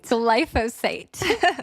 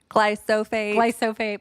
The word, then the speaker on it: glyphosate: Glyphosate. It's pronounced many different ways. I've heard people say it like glyphosate and glyphosate, but it's glyphosate.